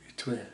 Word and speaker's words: Étoile: Étoile.